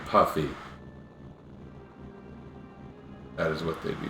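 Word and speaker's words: Yuffie: Fury you right she's supposed to be pronounced yui I think I've learned that in the past by people coming in and correcting my pronunciations if it started with a p would anyone be saying poofy no they'd be saying puffy that is what they'd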